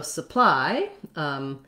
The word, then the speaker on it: supply: So supply will actually really be stressing on the ply part because the first syllable of supply is unstressed. So it sounds like su. And then my ply, that y doesn't do the e like these other y's. It does the diphthong I.